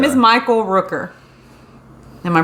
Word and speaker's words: Michael Rooker: Oh, his name is Michael Rooker. Am I pronouncing that right? Yeah. It's Michael Rooker.